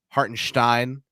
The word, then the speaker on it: Hartenstein: and stein-esque I mean they both have an S followed by a consonant in their name that's pronounced like there's an H there when there isn't hartenstein shop and Sev that's